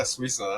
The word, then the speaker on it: Swisa: Did I say it right? Swisa. Yeah, Swisa. That's it. Swisa. You got it right.